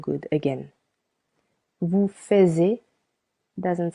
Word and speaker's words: fais: Je fais with letter S. Silent S.